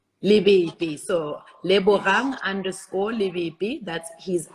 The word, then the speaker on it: Lebepe: that correctly le bohang is that how you pronounce your surname it's actually libbey libby so rang underscore that's